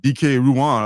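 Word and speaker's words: Dike Ruan: It's like DK Ruan. I've been mispronouncing his name for God knows how long. And Miko Suyong. Is it DK? I thought it was Dyke.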